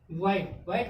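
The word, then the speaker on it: white: ठीक, व्हाइट यहाँ पे W के बाद क्या आ गया H आ गया। H क्या हो गया साइलेंट, तो बचा गया व्हाइट मीन्स सफेद।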